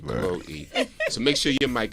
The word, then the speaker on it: Chloe: It's Chloe. Chloe. Chloe. Really? It's Chloe. Yeah, see, Chloe. that's it. Chloe. Yeah, well, there's an E on the end of that.